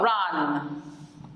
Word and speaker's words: rand: And then what about rand? Rand. The D is silent. Rand.